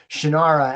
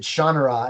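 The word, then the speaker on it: Shannara: Denver Comic Con and I pronounced it shanara and then he pronounced it shaa and I was like yeah but I looked over him I'm like I've been pronouncing that wrong for decades and his comment was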